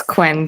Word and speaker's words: Quinn: Guyen, am I pronouncing that correctly? It's Quinn, thank you.